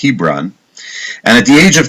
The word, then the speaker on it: Hebron: the city of Chevron or in English it's pronounced Hebron and at the age